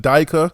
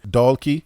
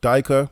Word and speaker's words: Dyker: you got Austin donkey Austin Dyker that's the German pronunciation if you want to americanize it then we'll say donkey but daika would be the German